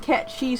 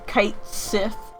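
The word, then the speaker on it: Cait Sith: like i've always seen cat cheese spelled c-a-i-t-s-i-t-h which most people like pronounces kite sith which is wrong but then again she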